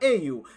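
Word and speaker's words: 英雄: Esto es porque héroe en dicho idioma se pronuncia Eiyu, que es como decir literalmente UA pero al revés.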